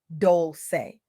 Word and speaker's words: Dolce: I'm your host, Leanne Dolce, pronounced doulce. Like sweet softness whispered in French, I'm your guide from